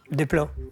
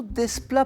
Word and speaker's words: Desplat: Desplat. Ça se prononce plutôt Desplat pour lui, mais c'est la bonne réponse.